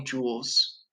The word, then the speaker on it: joule: appetizer only has 120 jewels and when i say jewel i don't mean like a diamond i mean it's spelled like this it seemed after scientist